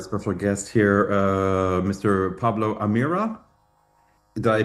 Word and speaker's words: Pablo Amirá: Pablo Amira, did I pronounce that correctly?